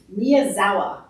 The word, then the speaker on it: Miyazawa: Mia zawa. It's the brand. It kind of sounds like a motorcycle, which makes me feel comfortable.